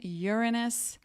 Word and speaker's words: Uranus: is the correct pronunciation Uranus like you're on us and it means heavens